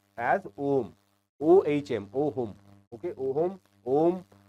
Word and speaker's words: ohm: Okay, and it is pronounced as ohm, OHM, ohm.